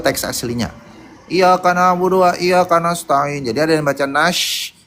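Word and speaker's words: إياك نستعين: Wa iya panjang yanya dua ka nas ta nas ta ada petik ain. Kenapa ada petik? Karena dia pakai ain ya, pakai ain. Jadi iyaka na'budu wa iyaka nasta'in.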